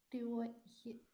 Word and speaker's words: teuer: Wie spricht man diese Kombination aus? इस combination को कैसे प्रोनाउंस किया जाता था? ओए. ओए.